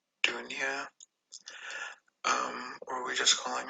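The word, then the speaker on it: Donia: called donya but the way you're supposed to pronounce it is dunya but i the way she always introduced herself as donya um who that's off so yeah so everybody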